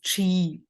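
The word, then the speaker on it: qi: through energy healing and the Chinese word for energy is chi like sometimes it's written differently it's not c-h-i it's q i or Enrique in Japanese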